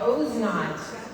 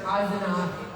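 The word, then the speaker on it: Asenath: really interesting article about Oznot, which is spelled with an A, but it's pronounced with an O in Hebrew. Oznot, sometimes pronounced Ozanoff, is Joseph's wife, who's Egyptian.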